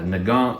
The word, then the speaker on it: Nagant: something like this this mosin uh nagant mosin the gant depends on where you're from how you uh uh pronounce it now it's heavy